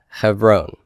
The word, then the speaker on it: Hebron: So hev, silent, ron, Hebron.